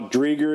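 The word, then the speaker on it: Driedger: Drieger is the way it's pronounced, so we got 2 check marks going.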